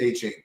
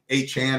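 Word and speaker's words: Achane: You can play him with A-Chain, or you cannot play him with A-Chain, leverage a little off. A-Chan, I know that's how you say it.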